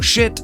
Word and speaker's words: Schiit: So shit, that's spelled SCHIIT, is a company that manufactures external DACs and amplifiers for speakers and headphones.